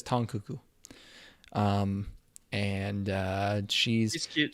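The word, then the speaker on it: Tang Keke: name is tong kuku apparently it's spelled tang but she says tong kuku um and uh she's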